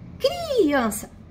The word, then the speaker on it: criança: Então fica criança. Criança. Criança. Ah, assim também não é. Então é criança. A sílaba tônica é o an, que é a sílaba forte.